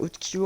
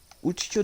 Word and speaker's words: Utkio: Du coup, sur Spell Texture, du coup, je l'ai téléchargé via Utkyo en fait sur Microsoft Edge. Donc, cherchez juste FNAF 2 Utkyo, donc UTKIO.